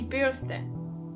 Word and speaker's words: Bürste: Die Bürste. Die Bürste. And remember, you don't pronounce the R as R, but more like R. So the word is die Bürste.